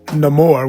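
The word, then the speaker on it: Namor: she goes through with Neymar or should I pronounce it no more which I really love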